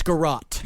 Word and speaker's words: garrote: was attached to a wooden, how is this pronounced, garrote? It's garrote.